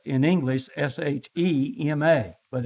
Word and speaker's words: Shema: called the Shema now it looks like Shima in in English but it's not Shima it's Shema sh well it's spelled s in English s-h-e-m-a but it's it's pronounced